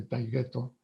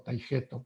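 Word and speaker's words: Taigeto: Se checaba si había algo evidente para que fuéramos arrojados del monte Taygeto o Taygeto, según quien lo pronuncie, o bien al Tíber, ¿no?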